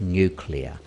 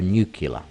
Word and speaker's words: nuclear: nuclear event and yes I said nuclear which is the correct pronunciation as opposed to nuclear which is the incorrect pronunciation so in order to